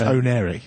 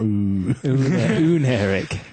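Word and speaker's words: Oneiric: Does that mean we can stop having to say No, it's onic. It's not uneric.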